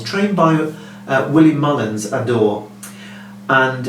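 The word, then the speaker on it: Ha d'Or: o r he's trained by uh willie mullins adore and it's only had two runs the first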